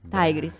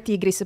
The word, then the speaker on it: Tigris: tigris lei tigris bene tigris Sì vabbè che comunque la pronuncia è sbagliata Bisognerebbe dire tigris però è stato sempre detto tigris e quindi tigris Tig